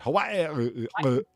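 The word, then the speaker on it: Hawaiʻi: They got to put the little stilt on the end. Hawaii. Well, that's what the apostrophe's for.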